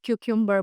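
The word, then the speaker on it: cucumber: कुकुंबर तो उसको हम कुकुंबर नहीं बोलते। उसको हम क्यूबर बोलते हैं।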